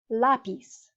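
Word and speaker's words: lápiz: write an accent mark lapis notice now it's on the second to last dificil because it breaks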